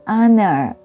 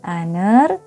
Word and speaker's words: honor: Contohnya, an hour, an honor. Jadi ini hurufnya H, an hour, tapi pengucapannya pakai huruf vokal. Dan an honor, ini hurufnya H tapi pengucapannya adalah vokal A, I, U, E, O.